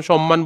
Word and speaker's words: সম্মান: অর্থাৎ ম এর সাথে যদি ম হয় তখন সেক্ষেত্রে উচ্চারণ সম্মান বলতেছি আমরা এখানে সম্মানকে ম একটা বাদ দিয়ে সমান বলি না।